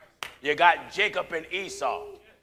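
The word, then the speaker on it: عيسى: You got Jacob and Esau. Esau in Arabic is pronounced Esa.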